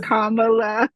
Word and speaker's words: Kamala: for like Camala Kamala I always say her name wrong because iaaa her name is Kamala thank you cause yeah because us Brits we say it different so that's why but